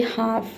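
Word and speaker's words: half: सबसे पहला वर्ड है हाफ। हाफ मींस होता है आधा। हाफ में देख सकते हैं कि यहां पे डी के बाद क्या है? यहां पे एल के बाद क्या है? एफ है। ठीक है? तो इसलिए यहां पे एल लेटर साइलेंट है।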